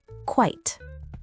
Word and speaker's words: quite: You can say it like this, quite. It rhymes with kite. A little tip to remember it is to think of the word quiet without the extra E sound at the end.